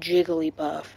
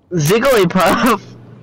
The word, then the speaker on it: Jigglypuff: It's pronounced Jigglypuff. Zigglypuff.